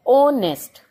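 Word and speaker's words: honest: एन ऑनेस्ट मैन जो है, ऑनेस्ट में एच लगा हुआ है लेकिन ये जो एच है वो साइलेंट है और ओ का साउंड आ रहा है, ऑनेस्ट, तो इसलिए हमने इसके साथ एन लगाया।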